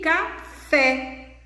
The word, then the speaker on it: café: E café. Qual é a sílaba tônica? O fé.